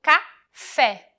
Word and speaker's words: café: O acento agudo, que deve ser utilizado quando a sílaba tem uma pronúncia mais aberta. Por exemplo, café. Observem como a pronúncia é mais aberta. É.